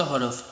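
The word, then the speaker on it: ح: জিম, জিম, জিম, শক্ত হরফ, জাতি, জাতীয়, জিম। ওকে, হা, হা, হা, গলার মাঝখান থেকে, খ, খ, খ, দাল, দাল, দাল, দাল, দাল, দাল, র, র, র, র।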